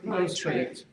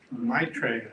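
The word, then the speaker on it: Maitreya: Matraa Maitraa.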